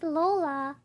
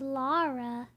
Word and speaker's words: Lola: Oh! Is Lola. Well, everyone was saying her name was Laura. Oh, like they kept mispronouncing her name.